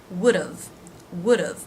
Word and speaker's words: would've: Would, have, would've. Again, it's the first syllable, would've, that is stressed, and d've is short and low in pitch and volume.